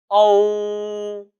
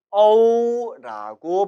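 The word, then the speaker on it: ou: 중국어에는 오라는 발음은 없습니다. 반드시 어우라고 발음해야 한다는 것이죠.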